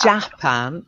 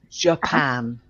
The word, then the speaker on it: Japan: very important it's yeah it's not Jack pan it's Japan Japan hands yeah we would